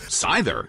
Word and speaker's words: Scyther: Scyther is sent out. With a voiced TH sound like in the word there, as opposed to the voiceless TH in the word thing.